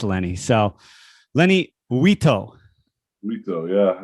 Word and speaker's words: Uitto: Uitto. That's it? Uitto? Because it's spelled like Uwanito or something. I was like, Uwanito. It looks like Japanese or Italian or something, but it's not at all.